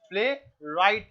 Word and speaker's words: playwright: प्ले राइट है, WRIGHT।